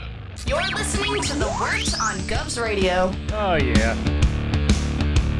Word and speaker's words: Wort: It is the Wort. Not wart, not fort, not short.